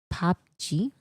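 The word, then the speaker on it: PUBG: It's pronounced Pop G. Pop G. Oh, Pop G. That makes sense.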